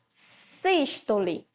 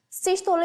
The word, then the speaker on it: sístole: presta atenção na pronúncia sistole sistole é uma pronúncia fechada sistole o coração tá